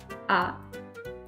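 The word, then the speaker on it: à: ah without an accent is the third person singular for have both of them are pronounced the same ah.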